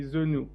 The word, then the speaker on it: Zenou: It's anyone's guess, including mine, but technically it's actually Zenou.